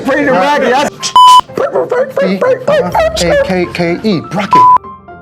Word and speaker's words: Brackey: B-R-A-K-K-E, Brackey.